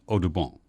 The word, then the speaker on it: Audubon: birthday of John James aabon or as his father might have pronounced it Odon the famous artist Frontier